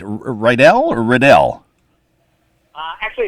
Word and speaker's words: Riedel: They said, Riedel the Needle, coming to give your show a bad review. So it rhymes with Needle.